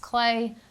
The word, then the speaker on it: Cle: called the Clay, CLE, but pronounced Clay.